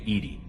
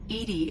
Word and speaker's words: EDI: why are you named Edie Edie is the phonetic pronunciation of EDI that is an acronym for intense defense intelligence are you getting along with Joker mr.